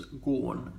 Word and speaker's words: gone: ago or more, but gone in the old days was gorn, to rhyme with corn. Sounded as though it was spelled G-O-R-N. There's a famous song by Flanders and Swan about the French horn, and they rhyme gone with corn.